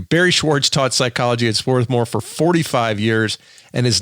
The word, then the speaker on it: Swarthmore: how to pronounce it swarth more there's an r in there that people tend not to say they say swathmore drives the people associated with the school a bit crazy so swarthmore swarthmore very